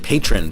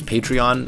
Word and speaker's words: Patreon: It's funny, by the way, I always thought it was pronounced patron, but apparently a lot of people are pronouncing it as Patreon.